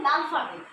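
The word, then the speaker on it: l'alphabet: তো তো ফ্রেঞ্চে অ্যালফাবেটকে বলা হয় লালফাবেট।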